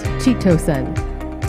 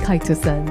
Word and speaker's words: chitosan: for your time today just yesterday i was pronouncing it as chitosan today i know it's kai to she'll find out more